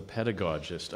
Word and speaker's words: pedagogist: Can you tell us a bit about your role as a pedagogist? Actually, I should have confirmed the pronunciation of pedagogist.